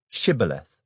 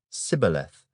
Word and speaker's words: Shibboleth: If he said, "No," then they would say to him, "Then say, Shibboleth." And he would say, Sibboleth, for he could not pronounce it right.